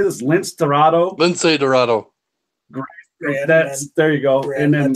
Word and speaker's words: Lince Dorado: Lince Dorado.